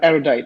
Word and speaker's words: Erudite: Is that the right way of pronouncing it, Miracle? Erudite. Erudite, yeah, Erudite.